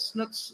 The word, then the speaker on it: Snook: Fun fact, Snook's last name is actually pronounced Snook, but I just can't do that, right?